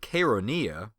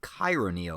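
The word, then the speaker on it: Chaeronea: at the Battle of konia I think I pronounced it chironia last time that's my mistake oh and just because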